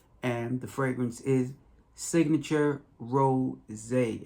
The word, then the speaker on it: Rosé: the fragrance is signature ro zay it has an accent in the word it is not signature rose although there is rose